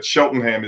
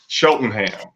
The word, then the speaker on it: Cheltenham: everything is um Smoky Shelton Ham's barbecue and that's sheltonham with a c before we over before we uh we're done everybody's gonna know that sheltonham is c l t